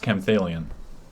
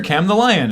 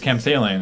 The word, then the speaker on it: Camthalion: It's pronounced Camthalion. Yeah. We met him at Card Kingdom. Yeah. And we're like, hey, we know you. You're Cam the Lion. And he's like, it's Camthalion. And I'm like, I'll remember that.